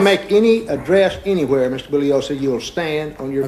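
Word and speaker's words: Bugliosi: any address anywhere Mr bullosa you will stand on your feet okay uh Mr Spence my name is pronounced bullosa the g is silent I've told you this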